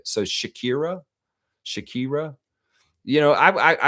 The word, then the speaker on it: Shakira: Fiercely saying Harrison and Benlay will take care of uh Shakyra Lex. It's Shakira.